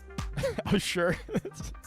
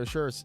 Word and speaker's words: Assure: Assure? If I'm pronouncing that like A-S-S-U-R-E. I think that's. I mean, that's a fine pronunciation. I said David Asher the whole time, but that's also fine.